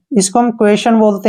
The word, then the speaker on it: quasi: इसको हम QU को उच्चारण क्वे करते हैं, ए का उच्चारण ए की मात्रा हो गया और एस को स लिखते हैं, वाई का ई, क्वेशी, क्या पढ़ेंगे इसको? क्वेशी।